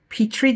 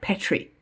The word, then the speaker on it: petri: geyser, not a geyser, as the audiobook narrator pronounced it. Also, I think it's petri dish, not petri dish.